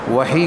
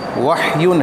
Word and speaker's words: وحی: وحی کہا جاتا ہے۔ وحی عربی زبان کا لفظ ہے، عربی زبان میں اس کا تلفظ اور اچار وحیٌ ہے۔ اردو میں عربی کے اعتبار سے وحیٌ بھی بولا جاتا ہے، اور تخفیف کرتے ہوئے اس کو وحی اس طرح بھی کہہ دیا جاتا ہے۔ دونوں طرح بولنا درست